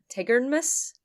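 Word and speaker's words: Tigernmas: there is an account of one Pagan King Tigard Miss it's t-i-g-e-r-n-m-a-s Tigger like from poo tigeredness who knows I'm pretty sure I mispronounced uh nifelheim last episode because Yoon was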